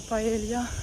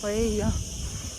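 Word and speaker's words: paella: паелью коли готують паею бо ми звикли що це паелья але читається в Іспанії як паейя готують частину креветок чистять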